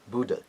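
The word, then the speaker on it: बुध: Buddha. It should be Bu. It's a short letter, and it is a third letter, so it's a what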